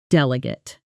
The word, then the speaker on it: delegate: Notice the stress falls on the first syllable.